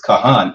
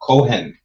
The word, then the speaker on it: Kahan: It's Kahan and not Kohen, right?